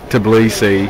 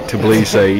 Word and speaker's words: Tbilisi: Tbilisi. I said it wrong and I'm being corrected. Tbilisi.